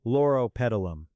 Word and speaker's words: Loropetalum: Loropetalum. Now forget the pronunciation and just remember this.